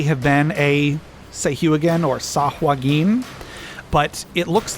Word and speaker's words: Sahuagin: Sahuagin, I think is Sahwagin. Sahwin. So a long time ago, I heard that some writer for D&D said that his pronunciation rhymes with "Hey, you again."